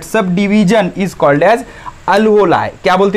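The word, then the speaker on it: alveoli: तो ये जो सब डिवाइड हो जाता है, that sub division is called as अल्वोलाई। क्या बोलते हैं उसको, अल्वोलाई। क्या बोलते हैं, अल्वोलाई। ओके, स्पेलिंग एक बार करेक्ट कर लेना, अल्वोलाई।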